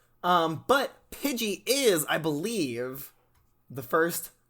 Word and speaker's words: Pidgey: Tiny Bird Pokemon pigling Pidgey oh Pidgey not pudy Pidgey yes there's it's an I not a you okay okay so it's pronounced Pidgey my bad um and it is known as